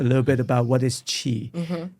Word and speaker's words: qi: bit about what is qi. So qi is spelled usually QI or CHI, okay?